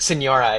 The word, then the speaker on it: Signora: That's awesome, and I love it because I think it's Salvino, and your girlfriend's identity is Signora. Is that how you say it? Senora, yeah.